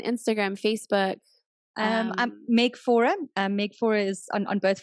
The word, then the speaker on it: Faure: And that's why I didn't say your last name in the beginning because I was like, I don't know how to pronounce that. Meg Faure.